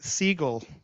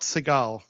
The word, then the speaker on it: Siegel: Gillian, in case you want to pronounce it right, Siegel, not Seagal, although some people would like to pronounce it Seagal.